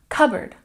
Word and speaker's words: cupboard: garden and number three cupboard we stress the first syllable and in this word we don't say the P sound we don't say cupboard